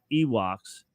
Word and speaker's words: Ewoks: The new species rhymes with Miwok, which was a Native